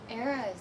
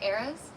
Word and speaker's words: Eris: Eris? Eris? Is that phonetically? Bye, Chad. Thanks for coming by. Take care. You're Paris without the P.